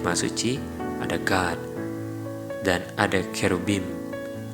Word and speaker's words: cherubim: Dan ada cherubim, atau mirip dengan pronounce-nya cerebellum.